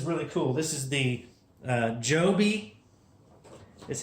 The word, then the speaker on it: Joby: This is the Joby, is how they say it.